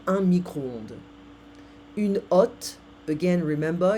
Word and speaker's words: hotte: Une hotte. Again, remember, in French we don't pronounce the H. Une hotte.